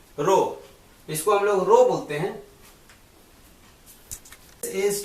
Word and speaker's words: rho: is Sigma n by a here Sigma is pronounced row this column row Bookman is directly proportional to